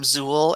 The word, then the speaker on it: XUL: we if you hear the term zool xul um pronounce zul like zuul from ghostbusters um then that is